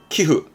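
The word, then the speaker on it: 寄付: 기흐.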